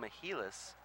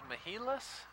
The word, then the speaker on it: Mehilos: Between Megan Mehilos, Jennifer Hinman, Dave Fink is actually going back up to the nosebleed section. They've got three layers here of seating at the TRC. Now, is Mehilos how we like to pronounce it, or Mehilos?